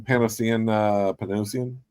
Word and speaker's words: Panosian: This damn Panosian, that's how you say it.